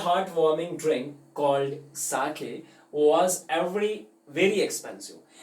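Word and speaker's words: sake: सो सा is pronounced like फा, ठीक है, इन fathers and सो ऑन। So actually में आप ये चीज़ समझेंगे कि इसको हम साके कहते हैं, सो नॉट एक्चुअली सेक, ठीक है, तो इसका ध्यान रखो।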